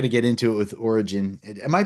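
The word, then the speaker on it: Origen: And I know we're going to get into it with origin. Am I pronouncing that right? I I Yeah. Okay. I'm like, you know, that guy uh Yeah, origin is the correct pronunciation.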